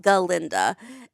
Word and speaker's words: Galinda: of the book she says it's ginda it's pronounced galinda and I don't know if it's the same